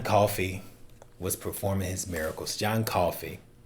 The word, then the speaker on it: Coffey: John Coffey, like the drink, just not spelled the same.